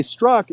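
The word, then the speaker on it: Strzok: and at one they Struck it the the pronunciation of Peter struck's last name is struck so it's kind of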